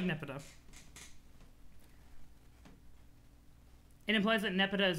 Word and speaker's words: Nepeta: are a wellspring of information about it you pronounce it nepeta okay cool cool i kind of like nipido it implies that nepa is above the baser